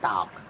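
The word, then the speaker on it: talk: पर बोला जाता है टॉक यहां बोला जाएगा नो तो अब देखिए यहां टॉक टॉक बोलते हैं एल साइलेंट रहता है तो एल क्या है यहां पे साइलेंट तो हम यहां लिख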